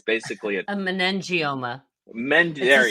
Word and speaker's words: meningioma: Yeah, it's and I don't ever pronounce it right. Megioma. It's basically a meningioma.